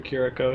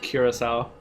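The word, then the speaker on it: Curaçao: We might see if we can stop by the mission and get something for Kiriko here. Or I believe we've been told it's pronounced Curacao.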